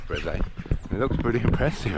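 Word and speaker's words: Brézé: It looks like Breeze, but I think it's Breze.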